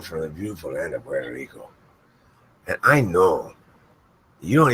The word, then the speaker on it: Puerto Rico: It's pronounced like this, okay? It's Puerto Rico, like that. Try it. Try saying Puerto Rico. Puerto Rico. That's totally wrong.